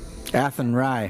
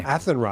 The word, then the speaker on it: Athenry: the fields of anthori ethan rye athenry i knew i was going to pronounce that wrong yeah okay is that the joke is at henry okay now i can